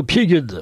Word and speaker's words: Biegun: On va le prononcer, tiens, pourquoi pas le prononcer aussi à l'allemande, Biegen.